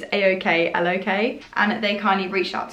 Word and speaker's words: Aoklok: I'll show you one here before I try and pronounce it. So it's Aoklok, and they kindly reached out to me via